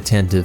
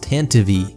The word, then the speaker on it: Tantive: For one, you're probably going to see people in the comments saying it's pronounced Tantive, which does seem to be technically correct, but it's just silly.